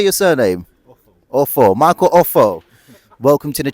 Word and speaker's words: Ofo: Ofo.